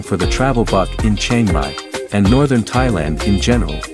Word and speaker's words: Chiang Mai: Chiang Mai, pronounced C-H-A-N-M-Y-E, means new city in the Lanna language.